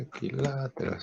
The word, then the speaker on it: equiláteros: Aquí ya sé, equiláteros, acento en la A.